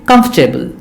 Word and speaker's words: comfortable: comfortable but it is it does not have four syllables it has three syllables only so the right way to pronounce it is comfortable comfortable comfortable not comfortable